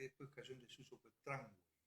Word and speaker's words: tramway: cayó en desuso, fue tramway o tramway. Tramway, sí, Claro, porque en tramway. realidad se escribe tangway, pero la pronunciación es tramway.